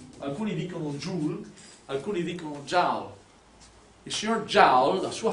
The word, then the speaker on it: Joule: Questo qui è una energia e l'energia nel sistema internazionale si misura in joule. Ho scritto in piccolo così, alcuni dicono joule, alcuni dicono joule.